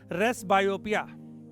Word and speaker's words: presbyopia: रहा था मैं, प्रेस, बाद में पता चला पी साइलेंट है, रेस बायोपिया।